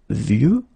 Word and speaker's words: vieux: And the last one is vieux, old. Un vieux arbre. Okay, of course you've got this X at the end, but you don't pronounce it.